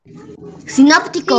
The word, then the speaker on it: sinóptico: Sinóptico. Sinóptico. Sinóptico. Muy bien, exacto, así es. Esa es la siguiente palabra, sinóptico. ¿Dónde lleva tilde sinóptico? En la primera O.